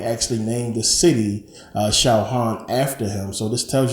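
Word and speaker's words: Sahagún: by Bernardo D San they uh pronounce it shaan you know kind of like lasagna you got that g that makes a different sound but shaan a uh Franciscan monk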